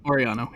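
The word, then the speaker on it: Orellano: Oriano, yep.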